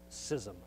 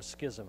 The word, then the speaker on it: schism: The word is schism or schism, however you'd like to pronounce it, okay?